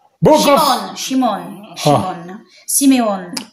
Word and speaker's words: Shimon: In Hebrew, is Shimon. Shimon is in Hebrew. Yeah. In English, is Simeon. Simeon.